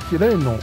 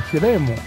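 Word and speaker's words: 喜雷努: 候，妖兽喜雷努我念成了喜雷姆，这个读音应该是喜雷努。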